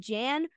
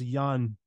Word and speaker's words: Jan: statement than anything El I must say it's actually pronounced Yan it's yan yan yes